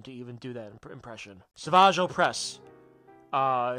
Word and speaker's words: Savage Opress: Savage Opress. His name is just Savage, and they just pronounce it in a fancy way.